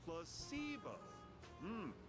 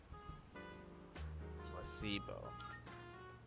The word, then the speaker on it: placebo: Placebo. The stress is on the middle syllable. Placebo.